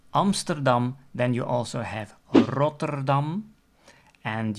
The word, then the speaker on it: Rotterdam: then you also have Rotterdam and you can also pronounce it with the other types of R pronunciations like Rotterdam and there's also